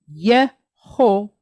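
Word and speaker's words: יהושע: Then we have ayin, silent letter, but it's pointed how? Patach, short duration A type vowel. Ah. Yehoshua.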